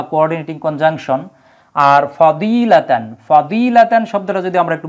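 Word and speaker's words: فضيلة: আছে ফার্সি ভাষার এজন্য ফার্সি ভাষায় দোয়া কে বলা হয় জ এজন্য অনেকে ফাজিলাত বলে ওয়াজুহা বলে ফজিলত তারপরে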